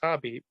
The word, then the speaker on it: Khabib: to is khabib bobby i guess i should say because i've always said it wrong and it's hobby but he's i love